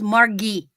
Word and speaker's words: Margie: My mother's name was spelled like that, but she was Margie with a hard G because she was German.